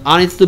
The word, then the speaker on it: honest: 보이 때문에 왔는데, 근데 얘 발음이 뭐야? Honest. 자음으로 시작하고 있어. 모음으로 시작하고 있어. 자음. 모음으로 시작하고 있죠.